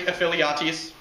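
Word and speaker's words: Ephialtes: It was not until a Greek traitor, he who shall not be named, Voldemort, pronounced in Greek, Aphiliates, showed the Persians a secret path which allowed them to get to the rear of the Greek forces.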